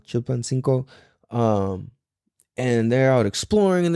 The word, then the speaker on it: Chilpancingo: Oh, and Nate is out in fucking deep ass Mexico right now, out in Acapulco, Chilpancingo, I think I said it wrong. Chilpancingo.